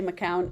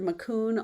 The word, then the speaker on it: Macoun: Is that how you pronounced it? Yeah, well, we say McCown. I've heard Macoun also, Macoun.